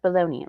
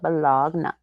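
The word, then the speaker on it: bologna: beans and bog and yes I know it's pronounced baloney rammes with pony that sounds better with beans when you call it bogna especially since he you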